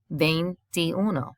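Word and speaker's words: veintiuno: twenties the vein this if you notice the first four letters spell vein like the vein in your arm which is also how you say it vein and then it becomes vein ti uno so it used to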